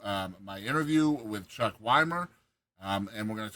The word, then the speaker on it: Wimer: Is it Is it Wymer? Wymer?